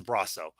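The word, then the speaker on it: Brosseau: me neither but uh according to baseball reference it is braso uh they they actually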